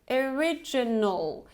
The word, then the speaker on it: original: quite logical right original original we have this schwa sound at the beginning so it's not o it's original original and that would be